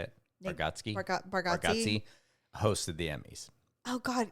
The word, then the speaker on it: Bargatze: Bargatze hosted the Emmys.